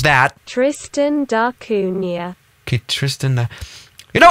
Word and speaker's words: Tristan da Cunha: How do you pronounce that? Tristan da Cunha.